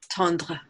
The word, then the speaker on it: Tondre: Tondre, thank you so much.